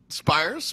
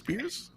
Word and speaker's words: Spiers: i like that and spires pierce it depends on which side of the family you ask actually but let's go